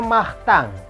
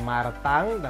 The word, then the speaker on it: Martin: namanya Master Oke si Martin ini yang dibacanya mah thank ini adalah nama Martin untuk orang yang laki-laki kenapa dibacanya mah thank karena ini ada kombinasi n tulisannya IMG kita bacanya Ang Nah lo emang teori